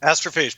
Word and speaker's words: astrophage: Astrophage? Astrophage, perfect.